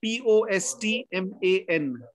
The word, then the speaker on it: postman: How do you say the word P-O-S-T-M-A-N? Postman. Postman. Remember, it's not... When you add the word man to another noun, the noun word, the vowel sound becomes shorter.